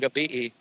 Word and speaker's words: gabi: And then at dark time, it's Mayung Gabi'i, and it's spelled Gabe. Looks like Gabe, like someone's name is Gabe, but that's Mayung Gabi'i.